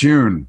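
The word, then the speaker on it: Yun: Lawrence Yoon.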